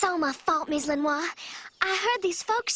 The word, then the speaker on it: Lenoir: Got Miss Lenoir. Which, yes, it does rhyme with Chris Benoit.